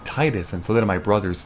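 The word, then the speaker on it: Tidus: example final fantasy 10 the whole titus titus officially it's titus um but i still sometimes say titus but i will fully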